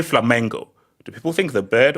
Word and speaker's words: Flamengo: Hold on, has he been saying Flamingo? He's been saying Flamingo the whole time. No, I said Flamengo.